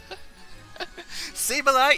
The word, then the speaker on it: Sableye: Sableye is the senpai, it rhymes.